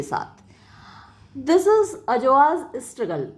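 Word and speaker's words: Adjoa: मुख्य पात्र है वो ए डी जे ओ ए तो यहां डी साइलेंट रहेगा अ तो अजवा है अ लिटिल अफ्रीकन गर्ल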